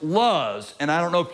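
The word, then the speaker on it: לוז: tree and an almond when that word is pronounced in the hebrew is pronounced luz and i don't know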